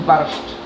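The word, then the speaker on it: barszcz: This is barszt. Barszt. Yeah, it's barszt. Barszt. Barszt. Yeah, it's quite hard to pronounce.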